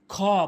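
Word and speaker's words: خ: এরপরে হলো খ। ভুল উচ্চারণ। খ ভুল উচ্চারণ। সঠিক উচ্চারণ হচ্ছে খ। অর্থাৎ হলকের শেষ থেকে উচ্চারণ করতে হবে।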